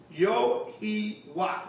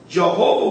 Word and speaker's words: Yahawah: YAHAWAH, which is Yahawah. Really, we just broke that down. That this seems to be the true Hebrew pronunciation of the divine essential name, Yahawah. Jehovah will appear more obvious